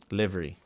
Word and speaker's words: livery: Livery. Liver with a Y. Livery.